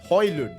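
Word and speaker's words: Højlund: Rasmus by the way I've been saying his name wrong for the entire time so far and you guys in the comment section let me know that so his name is actually Rasmus hon hopefully I'm saying that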